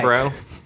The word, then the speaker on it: Cerebro: Cerebro?